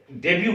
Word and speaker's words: debut: उसने डेब्यू किया है, लेकिन लिखते हैं क्या, जब उसको लिखने के लिए हम देखेंगे तो DEBUT, DEBUT लिखते हैं, लेकिन उसको पढ़ते क्या है, डेब्यू, तो इसमें T साइलेंट होता है।